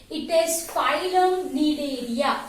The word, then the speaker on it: Cnidaria: are also called as Cnidaria. Am I clear? So phylum Coelenterata, or I can say it is phylum Cnidaria. C is silent over here.